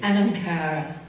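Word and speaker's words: anam cara: Can you pronounce it for me again? Anam car.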